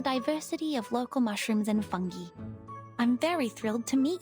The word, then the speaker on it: fungi: of local mushrooms and fungi. I'm very thrilled to meet you. Is that the correct pronunciation? Fungi? Because I've always pronounced it fungi. Like, hey, I'm a fun guy.